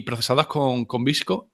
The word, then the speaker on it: VSCO: Cómo se llama visco yo le llamo vsco porque como no sé cómo se pronuncia visco visco vamos visco Supongo que estará bien porque como se pronuncia en inglés pero el qué a